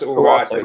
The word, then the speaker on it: Ugarte: It's pronounced Ugarte.